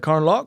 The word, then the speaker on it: Carnlough: I just actually think that we're from here, and then it's like Carnlough, sir. Carnlough. You don't even pronounce the GH.